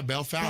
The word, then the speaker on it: Bellefontaine: And the moment that you say Bellefontaine, they know that you're not from there. And I said that. Yeah, Bell Fountain.